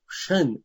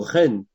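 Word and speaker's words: חן: Et puis enfin, en hébreu, nous avons le mot chen ou ren, ça dépend comment vous prononcez, qui indique un état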